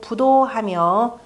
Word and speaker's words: 不睹: 나머지 뭐 주석은 굳이 읽을 필요 없고 그 다음에 시고로 군자는 계신호 기소 부도하며 디귿과 지읒이 읽을 때는 불자를 부라고 읽는다 그랬죠.